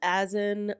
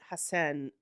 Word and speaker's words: Hassan: Nicole says Azan, but his friends and family pronounce it Hassan throughout the show.